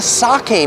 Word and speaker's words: sake: The second menu, speaking of soggy, it rhymes with it, is the sake menu.